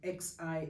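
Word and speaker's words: Xi: the Greek letter or x i as I said which is pronounced as KS the number ass associated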